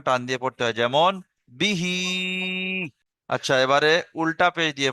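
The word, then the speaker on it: بِهِ: বিহি, বাজের বি আর হা খালাজের হি, তাহলে বিটা টান হবে না, হিটা টান হবে। এখানটায় কিন্তু অনেক ভাই উচ্চারণ করতে পারে না, বি হি বলে থাকে। বিটা টান হবে না, একদম স্পিডে বিহি।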